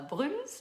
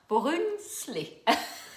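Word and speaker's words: Brunsli: Donc c'est pas un Bruns, mais c'est un Brunzli.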